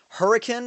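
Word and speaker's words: Huracán: announced now as far as I know it's pronounced uh hurricane uh the Lamborghini hurricane if that is uh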